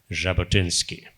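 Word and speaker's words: Jabotinsky: creating a Jewish homeand there then uh Vladimir jabotinski spelled with a J but pronounced as J jabotinski as a Russian Jew from adessa and he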